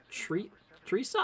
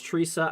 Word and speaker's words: Theresa: bay as well um is that tree theresa i think the tape i think that's teresa i think it's a silent h if i'm not mistaken uh north of philadelphia